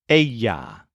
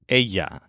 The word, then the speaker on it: ella: is common in Spanish two L's next to each other make a y sound so what we've learned here is that the word for he is L and she is Aya and you'll notice that